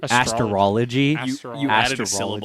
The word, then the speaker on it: astrology: said that astrology astrology astrology I was I was thinking of how it's spelled and like how I learned it a-s-t-r-o after there's not an e yeah astrology like Astro Boy yeah like Astro Boy